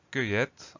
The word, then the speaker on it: cueillette: Donc la première syllabe, ça s'écrit C-U-E-I-2-L. Cueille. Donc C-U-E-I-2-L. Là, il faut essayer de le voir dans sa tête, de le prendre en photo pour le retenir. La dernière syllabe, elle est plus simple. On a E de TE pour avoir le son et.